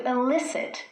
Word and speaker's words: elicit: These 2 words are homophones. What that means is they are words pronounced in the same way, but they have different meanings. To elicit with an E means to draw something out.